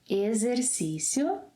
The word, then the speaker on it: exercício: So the letter X sounds like Z whenever it is in this position, after an E and before another vowel, as in exercício, Z, as in zebra, exercício, exemplo, exato.